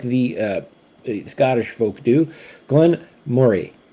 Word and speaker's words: Glen Moray: Glenn Murray, not Moray. Okay. Uh Glenn Murray. It's like you're saying the word Murray, but you just kind of put a little bit more Mo more into that.